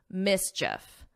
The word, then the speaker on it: mischief: And it's just like if you were saying if, mischief, mischief.